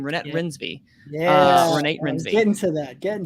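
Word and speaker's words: Renate Reinsve: duh uh uh uh renee i believe pronounced her name rynette rinsby yeah get into that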